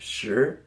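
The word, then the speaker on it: 十: more number and that is the number ten pronounced sure as you can see it's just a cross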